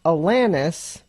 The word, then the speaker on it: Alanis: by the artist and her name is pronounced Alanis like Atlantis without the te because you know we've